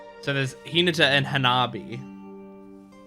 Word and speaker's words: Hanabi: So there's Hinata and Hanabi. Or I should say Hinata and Hinabi, because that's how they're pronouncing it in.